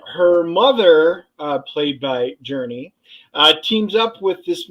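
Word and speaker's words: Jurnee: you Dennis it's Journey journey is that what you said It felt different but it's pronounced Journey pretty much like the band Journey Journey smulee and I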